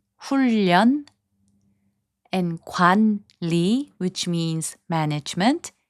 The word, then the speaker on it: 훈련: 훈련, which means training, is pronounced as 훈련.